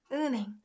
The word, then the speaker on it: 은행: The way I pronounced it is 은행. So this h sound got muted because of this un sound, right?